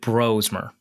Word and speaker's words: Brosmer: You pronounce it Brosmer.